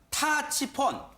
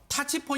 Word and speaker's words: 타치폰: 궁금하실 텐데 북한의 되요 일명 타치 폰 발음이 중요합니다 타치 폰 터치 폰 이라고 하는 스마트폰이 있는데